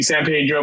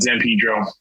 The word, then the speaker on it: San Pedro: call it Cabrillo uh should be San Pedro but yeah we call it Zan Pedro well I know in